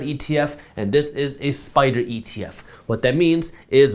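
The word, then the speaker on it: SPDR: just so you know spider is spelled s p d r now when we talk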